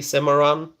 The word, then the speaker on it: Cimarron: Stallion of the Cimarron. Am I pronouncing it correctly? Cimarron?